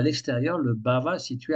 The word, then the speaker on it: bhava: Je prononce bien le A final bhava parce que j'entends souvent des dévots qui parlent de bave, mais ils mettent même pas le H aspiré, ils disent bave. Mais la bave en français, c'est pas tout à fait la même chose. Et donc le sanskrit est toujours vocalisé à la fin, le A se prononce, c'est ba, donc c'est B-H-A long, bhava.